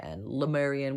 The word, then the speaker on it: Lemurian: where 25 000 lemurians i say le you could say le i've heard people say lie but it is spelled l-e-m-u-r-i-a-n lemarian which is um this